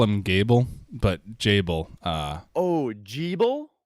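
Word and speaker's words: Gebel: they do but i've only ever called him gable because g-e-b-e-l to me sounds like a biblical biblical name and gable it sounds like a very biblical way of pronouncing it so like as soon as they said geebil in the game i said i'm not calling him that yeah we're not doing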